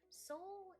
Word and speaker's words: Sol: Soul is, even though his name is spelled SOL, he's like the embodiment of laconic soul.